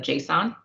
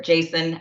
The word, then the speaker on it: JSON: with some of the basics of JSON or Jason I've heard it pronounced both ways I'm not an